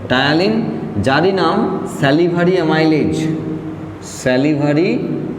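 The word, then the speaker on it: ptyalin: প্রথমেই নাম বলতে হয় টায়ালিন, পি সাইলেন্ট আছে, টায়ালিন, যারই নাম স্যালিভারি অ্যামাইলেজ, স্যালিভারি অ্যামাইলেজ।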